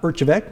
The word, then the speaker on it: Erjavek: public library branches is its director uh urchevec did i pronounce that correctly yes you did a great